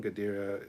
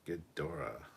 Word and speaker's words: Ghidorah: craziest one Harrison Wells King ghadira is pronounced Ghidorah okay fleetpawa says Naked